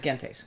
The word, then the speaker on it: Gentes: Number 83 is Gentes, or Gentes, Gentes, whatever. In Latin, it's Gentes.